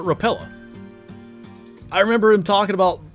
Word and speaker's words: Rapala: I think it's Rapala. My dad calls it Rapella.